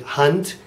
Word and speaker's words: Hand: notice I'm pronouncing it hunt and not H so the D at the end of a syllable sounds mostly like a t so Gip de hun